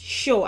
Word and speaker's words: shio: The Yoruba word that made it to the English dictionary that no credit is given for as well is shio, which is pronounced sho, and it came into the English vocabulary in the 17th century.